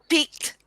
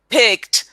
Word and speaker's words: picked: how you're saying it piqued a peck this is how you say picked picked a peck pick a